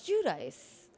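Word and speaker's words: Giudice: So, Teresa Jud, do you say Judice or Judy J? It's Judice. I think that's how she pronounces it.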